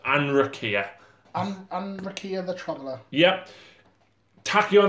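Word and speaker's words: Anrakyr: So we've also got Anrakia, is how we pronounce it. Anrakia.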